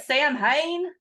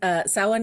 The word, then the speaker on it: Samhain: Isn't it Sam Haine?